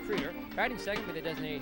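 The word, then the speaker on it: Krider: Troy Creeder is the shortstop, spelled K-R-I-D-E-R, but pronounced Creeder.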